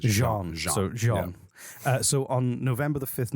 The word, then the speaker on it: Jean: just seeing it very badly i'm sorry sorry john cretchen uh hey good job that was good